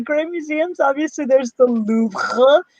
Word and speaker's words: Louvre: Obviously, there's the Louvre. You gotta say it like that, otherwise you're not really a true Parisian.